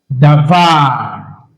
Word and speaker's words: davar: Davar. Now, the accent on this word is on the last syllable. It is milra. Milra is the accent on the last syllable.